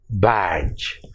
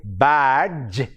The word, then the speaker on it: badge: d sound we say badge but the correct pronunciation is badge the d is silent number two the second